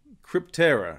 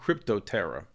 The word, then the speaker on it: Crypterra: It's actually Crypterra, not Cryptoterra. So I apologize for mispronouncing the domain name here.